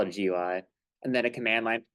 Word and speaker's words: GUI: We have a GUI or a GUI. I pronounce it GUI. A lot of really older guys, if you have any professor or mentor that's been, programming bioinformatics since the 90s, they'll call it a GUI.